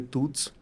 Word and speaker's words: Thoots: Et c'est comme ça que j'ai parti le projet Toots, qui est ça s'écrit THOOTS.